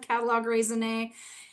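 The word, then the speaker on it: catalogue raisonné: in art history circles we still keep the French spelling and pronunciation of catalog raisin and simply put what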